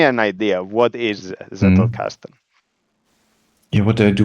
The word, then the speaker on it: Zettelkasten: It's Zettelkasten, and the clue is to, if the target audience is English or American speaking, the clue is to treat this as if there was a T leading the word. So you have a tongue T sound at the beginning, which usually with a